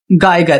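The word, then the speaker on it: Geiger: A scientist major radio activity usually tools like गाइगर, इसे पढ़ते हैं गाइगर काउंटर्स, एंड इसे सिंटिलाइजेशन डिटेक्टर्स। ठीक है, ये दोनों नाम प्रोनाउंसिएशन की देते हैं इसको, गाइगर काउंटर्स एंड सिंटिलाइजेशन डिटेक्टर्स।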